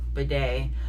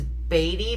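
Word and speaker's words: Badie: That's That was to Tyler Bedet. I thought it was Batty, but apparently Tyler changed the pronunciation of his last name to be Bedet,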